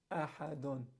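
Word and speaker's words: أحد: If you stop, you're going to give the dal a sukun. You're going to say ahad, ahad.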